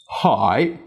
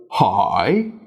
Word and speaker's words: hỏi: as ngã and huyền, there's actually lots of different but equally correct ways to pronounce dấu hỏi, even within one dialect. So for example, here in Hanoi, hỏi, hỏi, hỏi, the hỏi are all easily understood as being dấu hỏi.